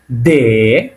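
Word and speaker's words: д: যেটা আমরা বাংলা যেটা পড়ছি তারানে এটা কি দে এটা পড়ব আমরা এরপরে এটা হল ই এর মত দেখতে এটাকে একচুি বলা হয় ইয়ে এর মত যেটা দেখতে সেটাকে আমরা বলতেছি এবং এ দেখেন এর উপরে আবার দুইটা ফোটা দে এরকমই এর উপরে কি দেওয়া আছে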